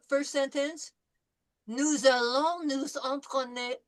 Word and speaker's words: entraîner: This is en through the nose.